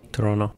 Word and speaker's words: Toronto: we're here in Toronto that's how you say it as a Canadian Toronto Toronto right now I'm sitting